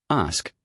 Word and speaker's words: ask: Ask rhymes with mask. But many learners say it like axe due to their native language influence.